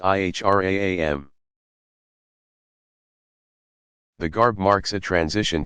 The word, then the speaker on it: ihram: As pilgrims enter a forbidden zone that encircles Mecca, called the Haram, they put on the plain white wraps called the ihram, pronounced ihram.